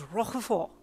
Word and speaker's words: Roquefort: This is Roquefort. Why are you saying it all fancy and stuff? That is how it's pronounced.